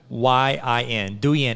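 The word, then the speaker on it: Douyin: it's still call and i'm going to pronounce this wrong and i apologize d-o-u-y-i-n do yan it's still called that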